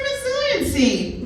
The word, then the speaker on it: resiliency: Resiliency has 4 syllables.